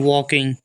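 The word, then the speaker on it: walking: बिंदी जी से ग इसको हम पढ़ते हैं वॉकिंग वॉकिंग मतलब होता है टहलना कोई पैदल चल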